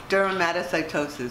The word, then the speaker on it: dermatomyositis: No, dermatomyositis.